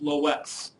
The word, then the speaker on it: Loess: on something called the Loess method to estimate a nonparametric regression model. In most places, you will not see this W listed in there, and it still will be pronounced Loess.